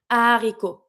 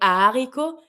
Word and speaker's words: haricot: not that much, but we tend to like aspire it a little bit, like héros, haricot. You can see that the way that I say it, when I say haricot, I tend to like breathe some hair. Haricot. We don't do the link.